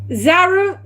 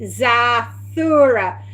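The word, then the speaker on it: Zathura: Zaru. Hang on. I can't say it now. I'll spell it for you. Z A T H U R A Zura. Zura Space Adventure.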